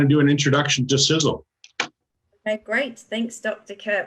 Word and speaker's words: Sisel: success energy and longevity some people pronounce it sisal I guess it could you know it looks like it's pronounced that way but it's actually sizzle so if this company